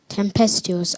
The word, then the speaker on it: tempestuous: Tempestuous. Tempestuous. Am I pronouncing the word correctly?